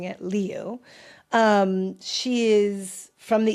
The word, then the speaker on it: Liu: I listened to a lot of of correct and ways of pronouncing it. Leu.